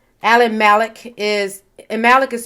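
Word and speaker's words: Mallach: have changed um urban researcher and author alan malek alan malek is and malik is spelled m-a-l-l-a-c-h alan malek um offers an overview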